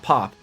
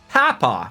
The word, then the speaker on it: Papa: Grandfather on your mom's side is pronounced how it's spelled Papa. Or Papa. Okay. So similar to what I would say. Exactly. Platinum shield, we're gonna need that again. Divine shield, protect us! Pap? Not pop. Papa.